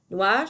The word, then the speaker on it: noir: The next one is black, and these are all pronounced the same way. Noir, noir, noir, and noir. So répétez, classe.